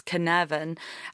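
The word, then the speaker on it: cynefin: Welsh word but I I'm told I've looked it up it's canavan and that means sense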